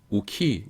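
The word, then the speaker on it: οὐχί: 우키, 이오탈로 가지고서는.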